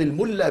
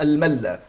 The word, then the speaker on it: الملا: المولى في ضبط كلمه الملا والبعض يقول الملا بضم الميم والبعض يقول الملا وكان الامام شهاب الدين الالوسي يضبطها بفتح الميم ويقول فاحفظ وبالفتح تلفظ الملا ويقول انها نحتت من